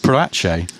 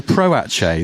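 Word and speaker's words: Proace: But it always looks to me like it should be pronounced Patche. Pratchce. No. Proache.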